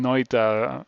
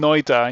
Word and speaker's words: Noita: thank you thank you for uh for streaming noita on your first playthrough blind it is always